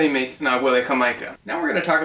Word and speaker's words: Jamaica: It's a certain variety of hibiscus, spelled like Jamaica, pronounced Jamaica.